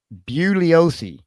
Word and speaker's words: Bugliosi: I've heard him say in the press, "Ah, that G is silent." Right? He'll tell you that. So it's it's it's buliosi.